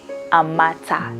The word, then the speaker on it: Amata: Yeah, Amata. The pronunciation is Amata, and I like it.